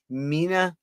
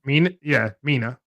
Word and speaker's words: Mina: Mina, that's how you say it. Mina. Yeah, Mina.